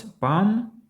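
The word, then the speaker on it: palm: буква lл не вимовляється А ось пам це долоня або пальми але ми тут також lл не вимовляємо ка - це спокійний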